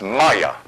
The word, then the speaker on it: Maia: That's pronounced Maya.